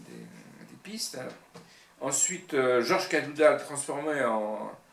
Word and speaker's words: Cadoudal: Ensuite, Georges Cadoudal, transformé en Cadoudal avec un K pour dire qu'on dans la conversation, on accentue sur le OU, Cadoudal, en breton, par bretonnisme,